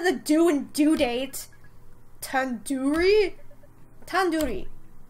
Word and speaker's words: tandoori: Tandoori? Tandoori. It's tandoori. The do isn't like door, it's like do head. Are you 5 years old? You can at least say the do and due date. Tandoori?